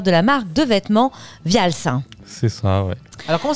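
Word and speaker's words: Wials: la marque de vêtements Vials. C'est ça, ouais. Alors, comment ça s'écrit déjà ? Alors ça s'écrit W-I-A-L-S. Vials.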